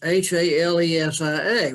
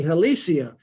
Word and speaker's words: Halesia: as a Genus h-a-l-e-s-i-a well guess what Latin would pronunciation would be helicia but since Stephen Hill Hales is his name you have to pronounce it according to how he pronounced his name so what would be Latin pronunciation Alicia becomes halesia so a little bit